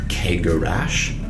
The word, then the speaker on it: Cegorach: So for example, the CH at the end of his name, it is Cegorach, Cegorach.